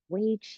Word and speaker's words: Wei Qi: that we have it's called wayi Wei it's spelled Wei Qi and Wei is a